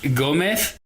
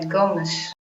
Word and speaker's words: Gomes: And then it's Gomez. Uh, Gomesh. Oh, Gomez. Yeah. It's kind of a shh sound at the end.